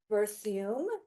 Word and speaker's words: Berthiaume: And to her right is Allie Berthiaume.